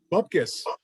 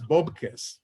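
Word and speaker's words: bupkis: Bubkiss. We in English we say bubkiss, but it's bobkiss.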